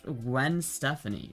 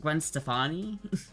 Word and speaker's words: Gwen Stefani: How the you mispronounced Gwen Stephanie? Did I How did I pronounce it? Gwen Stephanie. Did I pronounce it? Gwen Stefani.